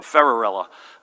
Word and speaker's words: Ferrarella: this pronunciation right and they said thank Cinderella so ferrarella John there he is